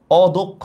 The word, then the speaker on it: অদক্ষ: এখানে অদক্ষ মানে বুঝাচ্ছে হচ্ছে আমরা অদক্ষ মানে দক্ষ না, এটার উচ্চারণটা কিন্তু অর মতোই আছে, অদক্ষ।